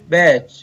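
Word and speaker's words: batch: इसी प्रकार कुछ शब्दों में टी के तुरंत बाद सी एच हो तो टी का उच्चारण नहीं किया जाता।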